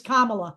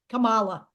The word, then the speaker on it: Kamala: name like Trump does it's Kamala it's not Kamala it's Kamala I thought I said